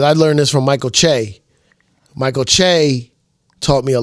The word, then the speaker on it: Che: But how do you say chocolate? You don't say chocolate. Chocolate. Chocolate. Why do we do that? Why do we say Shea? I don't know. Shay. This It's CHE. How do you pronounce CH? And then he has an apostrophe in the E, so it's I think Che.